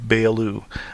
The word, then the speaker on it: Beyoğlu: And north of the Golden Horn is immediately the area of Beyoğlu. Don't be confused by the G that's in there that has an accent, which is not pronounced. And Beyoğlu was originally the more European part of the city.